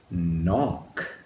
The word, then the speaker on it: knock: Silent K at the beginning and that CK at the end that makes the one sound. Let's do that one one more time. Knock.